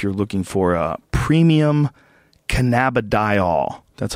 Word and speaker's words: cannabidiol: So if you're looking for a premium cannabidiol, that's how you say it, product like that, the gold standard is whole plant extracts, and some companies just extract one compound.